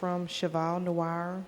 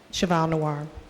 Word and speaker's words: Cheval Noir: Cheval Noir Media, and the 3rd one is from Office Depot.